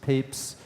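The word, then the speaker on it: Papez: research on emotion is this scientist named James peeps it's pronounced Papes and he was the first to actually describe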